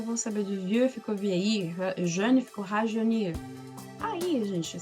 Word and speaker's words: vieillir: Que toda vez que aparecer um L perto de um I, você não pronuncia o L, você arrasta o I. Fica um som de assim, um I, vieillir, certo? Vieillir, certo? Você vai arrastar o som do I.